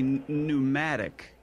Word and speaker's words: pneumatic: I think I think you're trying to say pneumatic uh other's yeah is the P first silent it's a silent P yeah it's it's pneumatic oh all right um okay we go on